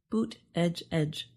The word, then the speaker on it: Buttigieg: During his 2020 presidential run, his campaign made shirts with the pronunciation Boot Edge Edge to help.